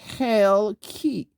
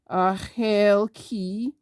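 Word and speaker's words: חלקי: So here is this is a noun masculine singular, and say, and this is hell key, and this is how you pronounce it, hell key, or hell key.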